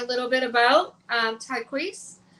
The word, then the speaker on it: Tyquece: little bit about um tqu I hope I'm pronouncing that right am I saying that right yes you are okay okay awesome so